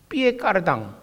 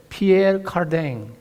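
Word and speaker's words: Pierre Cardin: 세계적인 패션 디자이너 피에 까르당, 한국 발음인가요? 피에르 카르댕, 유명한 사람이잖아요.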